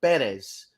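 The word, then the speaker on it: Pérez: uh spelled it out the accent mark is over the first e because the correct pronunciation of of uh that young man's uh last name is actually Perez why everyone insists on saying Perez is is beyond me but it is it is uh Perez Luis Perez Perez I've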